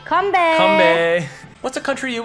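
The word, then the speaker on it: 건배: You say kambe.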